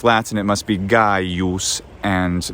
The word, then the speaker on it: Gaius: as a letter c which always was a voiced gu sound as in guy use but they just use